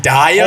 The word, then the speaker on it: Zendaya: worked with Usher, Zendaya, Wow. Whoa. Lewis Hamilton. Hold on. Zendaya?